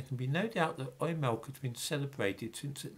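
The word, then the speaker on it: Oimelc: words meaning used milk it's pronounced oy milk modern experts cast doubt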